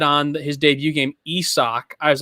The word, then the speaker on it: Isaac: this with isak paredes that his name is pronounced esoc and not isaac so pretty much up until this point i